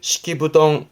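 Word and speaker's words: 敷布団: 이때 발음은 시키부덩 시키부덩 원래 포단의 이부 자리는 후덩 후덩 그럽니다만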